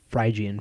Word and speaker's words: Phrygian: So, and it's Phrygian for all the people that always correct me on my mispronunciation of that word I hate.